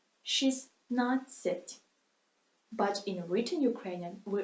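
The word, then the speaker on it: шістнадцять: Here we don't pronunciate T. We just lose it. She's not sit. But in written Ukrainian, we of course write T. She's not sit. But pronunciate she's not sit.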